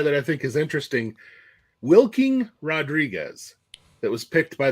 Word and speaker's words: Wilking: So he's oh, it's spelled Wilking. That's new. Wilking, Wilking. Wilking. It's like a verb.